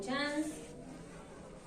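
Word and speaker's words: Schanz: Rótulas, esas rótulas pueden ser tubo a tubo, o tubo chance, tubo a tubo, tubo chance. Chance se escribe S-C-H-A-N-Z.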